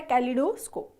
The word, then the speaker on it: कैलिडोस्कोप: इसका सही प्रोनाउंसिएशन है कैलिडोस्कोप।